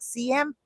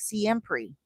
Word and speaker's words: siempre: And I was like, siempre. Oh, I pronounced it as siempre. I was like, siempre. And the person who I was with said, no, siempre. And I was like, siempre. Oh, siempre. And then I started to